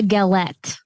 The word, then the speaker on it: galette: Actually, I think they would pronounce it with galet. Probably. Because they don't pronounce the T.